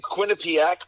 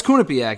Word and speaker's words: Quinnipiac: graham i was i did not know the pronunciation i was saying quinnipiac but you you are uh uh you said you're uh you went there right i'm alone yeah yeah no it's kunipiak yeah i must have mispronounced it myself i'm